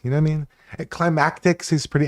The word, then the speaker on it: Klymatix: I I mean, climactics is pretty close. At least he doesn't call me, you know what I mean? Climactics is pretty it's it's climatics.